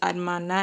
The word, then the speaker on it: hermana: Just like the word sister and brother, the H is silent there. That is hermana and hermano.